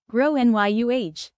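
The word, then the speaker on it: Gráinne: She asked what I meant and I said, "Well, in Ireland, they typically pronounce it like grow NYU."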